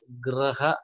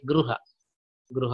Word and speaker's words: ಗೃಹ: ಇದನ್ನ ನಾವು ಉಚ್ಚಾರ ಮಾಡೋದು ಗ್ರಹ ಅಂತ ಉಚ್ಚಾರ ಮಾಡೋದಿಲ್ಲ ಇದನ್ನ, ಅಲ್ವಾ? ನಾವು ಗ್ರಹ ಅಂತ ಉಚ್ಚಾರ ಮಾಡೋದಿಲ್ಲ, ಉಚ್ಚಾರ ಮಾಡೋದು ಹಿಂಗೆ ಗೃಹ ಗೃಹ ಅಂತಲೇ ಉಚ್ಚಾರ ಮಾಡ.